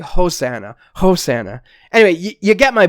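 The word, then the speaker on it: ὡσαννά: that passage it it in erasmian pronunciation so if I were to remove the rough breathing from that it would just sound like oana oana right but there's definitely an H there's definitely like a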